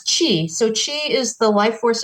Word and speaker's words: Qi: more time please yeah it's Qi so that's Chi so Chi is the